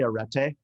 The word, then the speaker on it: Arete: So there's two ways to say it. I say arete.